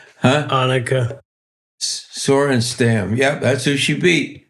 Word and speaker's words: Annika Sorenstam: Let me think of how you pronounce it. Anika Sorenstam. Come on, you know it, guys. It's Annika Sorenstam.